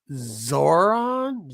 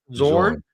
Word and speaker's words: Zorn: Morrison did a great job on this run, introduced some great characters, but we have get Zoran. How do you say it again? Zorn.